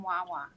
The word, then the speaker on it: Wawa: I wanted to go up to someone and go, "There's no S in Wawa." I do remember that. It's so funny. It was really cool seeing like the Wawa references, and of course